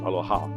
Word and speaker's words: aloha: care and respect you so the word aloha i pronounce aloha because it's broken into two parts alo and your your presence it